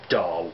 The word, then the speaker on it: Dal: The book is about a brother and sister team, Lenore and Dale, spelled D-A-L, which actually is pronounced Dahl, but, you know, we can look past that.